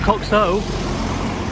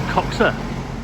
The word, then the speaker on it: Coxhoe: in the village of coxa which is spelled c x h o e but it's not coxo it's coxa it's a Village Tavern